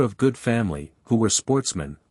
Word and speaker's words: sportsmen: Which were of good family, who were sportsmen, a French word pronounced with the accent on the men.